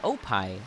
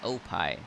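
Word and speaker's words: OPie: circle circle menu um it's called oai it's spelled o p i e oai I really like it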